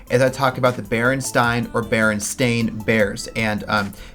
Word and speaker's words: Berenstain: I talk about the Berenstain or Berenstain Bears and how nobody knows what. A lot of people think that it was Berenstain or Berenstein, but it's actually Berenstain, which is weird.